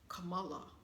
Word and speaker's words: Kamala: I believe the correct pronunciation of her name is Kamala.